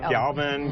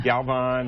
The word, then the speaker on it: Galvan: Galvan, Galvan. It's Spanish, so it's V-A-N. V-I-N is Irish, but great.